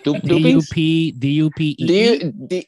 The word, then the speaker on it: duppy: D-U-P-P-Y. D-U-P-P-Y. D-U-P-P-Y. How do you pronounce duppy, that shit?